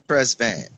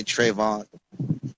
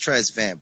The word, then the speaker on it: Tresvant: But yeah, some people leave the S out and just say Trevon. And but my grandmother used to always correct me. You know, it's pronounced Tresvant, boy.